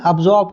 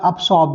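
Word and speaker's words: absorb: हैं प्रोनाउंसिएशन जो है, अब ये सा की आवाज भी देता है, अब्जॉर्ब भी कह सकते हैं या अब्सॉर्ब भी कह सकते हैं, सा की आवाज भी, अब्जॉर्ब या अब्सॉर्ब दोनों करेक्ट है, आपको टेंशन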